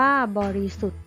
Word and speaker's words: บริสุทธิ์: ทหาร และ นอ หนู นะ คะ อ่ะ ผู้ บริสุทธิ์ นะ คะ อัน นี้ จะ เป็น ค่า เสียง พยัญชนะ ตัว ทอทง แล้ว ก็ สระอิ นะ คะ บริสุทธิ์ อ่าน ว่า บริสุทธิ์ นะ คะ ภาพยนตร์ นะ